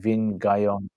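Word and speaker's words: Vinh Giang: There's a guy, a Vietnamese guy called Vin something, Vinh, something like that. Vin Guyon, how his name's pronounced.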